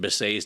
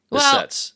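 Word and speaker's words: Behçet's: Okay, Stevens-Johnson's, we've mentioned, I think, inflammatory bowel disease like Crohn's disease, and we even mentioned Behcet's disease earlier that can cause eye symptoms like this person may have.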